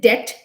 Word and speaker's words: debt: We did debt, DEBT, again B is silent over here.